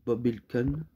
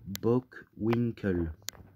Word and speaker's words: Bockwinkel: Hulk Hogan contre Nick Bockwinkel. Oh non, qu'est-ce que je le prononce mal. Nick Bockwinkel.